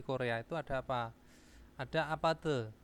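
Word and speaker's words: 아파트: itu ada apa ada Apate Apate itu adalah bukan apace ya Apate Apate nah Apate itu ada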